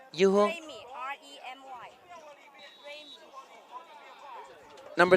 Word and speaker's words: Remy: Remy, R-E-M-Y. Number 3? Number 3, quarterback. R-A-M-Y. R-E-M-Y. Remy. Remy. Okay, so number 3 is Remy. Yu Heng Sun? He's 18. Okay, he's 18. So Remy is 18.